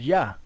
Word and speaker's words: Yah: where the name of the most high is pronounced yah you know it was a shorten form of